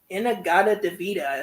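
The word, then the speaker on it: In-A-Gadda-Da-Vida: Um, and we got the first record in Iron Butterfly with Inagada Devita is how you say it.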